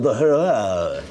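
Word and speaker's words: Huayra: times a day what's it called it's called the H it is it's spelled h u a y r a the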